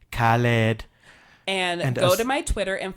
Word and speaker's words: Khaled: say so there you have it folks I pronounce it correctly Khaled and odor my Twitter and follow me if